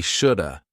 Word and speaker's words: should have: Native speakers combine this to sound like we shoulda. Notice that the L is silent. Should have had becomes shoulda had.